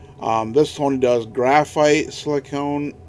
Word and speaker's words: silicon: Sony does graphite silicone silicon and I always say want to say silicone uh I have been calling it silicone for years and I just thought it's a bad habit so I probably keep saying it wrong um and they got